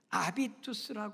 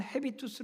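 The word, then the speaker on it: habitus: 삶이 되셔야 합니다요네 번째는 아비투스 하는 단어인데요 영어 발음은 헤비스 아고 하기도 하는데 원래 불란서 말이에요 아비투스 아고 하는 발음을 한다는데요 예이 아비투스 아고 하는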